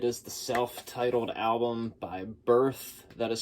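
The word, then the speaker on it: Berth: It is the self-titled album by Birth. That is spelled B-E-R-T-H, even though I'm sure I'm going to have it up on the screen.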